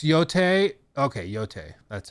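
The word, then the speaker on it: Yōtei: It's Yote. Okay, Yote. That's how it's pronounced.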